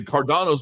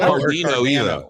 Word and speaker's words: Cardano: Is it Cardano or is it Cardano? Neither. Cardano. It's not Cardino either. It's Cardano. Cardano.